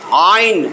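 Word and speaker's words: عين: এইখানে মধ্যভাগে ধরেন হামজা আইন জবর আ, হামজা ধইরা চাপ দিয়া বলেন হামজা আইন জবর আ আ আ, চাপ দিয়া দেখেন ব্যথাও লাগে, একটা ধাক্কাও লাগবে, ব্যথাও লাগবে।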